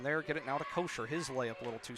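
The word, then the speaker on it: Koisher: inbound pass comes in to kosher k o i s h e r is how you spell it now to Fleming and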